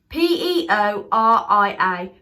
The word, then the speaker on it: Peoria: Prince of Pete pouria I want to say PEO RI a prince of Peoria Peoria yeah I think that's